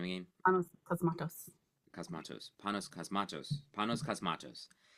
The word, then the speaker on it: Panos Cosmatos: Panos Cosmatos.